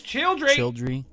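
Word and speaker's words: Childrey: But how do you pronounce its name? Childry. Childry. It is Childry.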